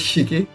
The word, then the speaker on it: Shiki: to pronounce okay Shiki is it straight up just Shiki yep Shiki okay sure hello